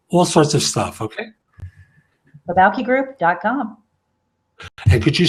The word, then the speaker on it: Balki: sorts of stuff okay Balki group com could you spell that for the place it's th e be as a boy au ke this sounds like there's an L in it but there's not the Balki group com